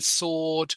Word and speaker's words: sword: a w in answer don't pronounce the W in Sword don't pronounce the b